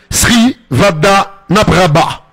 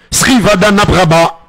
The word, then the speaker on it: Srivadhanaprabha: Il s'agit du Thaïlandais Vichai Srivadhanaprabha. Srivadhanaprabha. Et oui, pas facile à prononcer, mais si vous vous entraînez, vous allez y arriver.